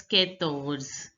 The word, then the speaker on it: quatorze: 13, 14 is pronounced as quatorze. Quatorze. OR is pronounced as ors. Quatorze.